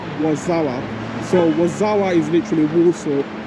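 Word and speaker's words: Warszawa: was like okay so that's actually how the Polish pronounce it and they call it wasawa so wazawa is literally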